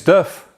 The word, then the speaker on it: Diff: have it and you actually say it like you would say the first part of that thing in the back there man the differential so anyway um if